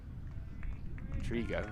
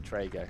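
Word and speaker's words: Trego: He was one of the rare that actually pronounced my name properly. Trigo rather than Trago.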